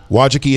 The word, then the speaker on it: Wojcicki: Facebook pushes aggressively into YouTube's video turf, Susan Wojcicki, do you know how to say her last name, Cords? Owen. Not your last name. The CEO of YouTube, Wojcicki. Not even, I'm sure. Wojcicki it is.